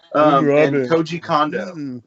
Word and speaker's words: Koji Kondo: And Koji Kondo. Did I say that correctly? Yeah, you got that right.